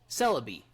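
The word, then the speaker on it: Celebi: just go from there like celery but C would be yeah is a is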